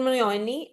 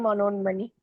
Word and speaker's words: Manonmani: I think I have not pronunciated your name correctly. Manonmani.